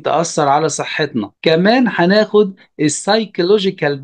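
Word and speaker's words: psychological: على صحتنا كمان هناخد السيجال دانجرز او المخاطر النفسيه وهنا البي مش بتتنطق وكمان هناخد السكيورتي دانجرز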